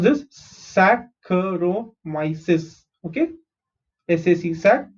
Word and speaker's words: Saccharomyces: Saccharomyces. Okay, SAC sac, CH is kh, RO is ro, MY is my, CES is cis. Saccharomyces cerevisiae.